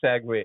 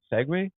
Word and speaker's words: segue: to and this is this is the best sague ever segue yeah uh my English is not always like my pronunciation is not always so good sometimes I say sague it was s you clearly it's okay we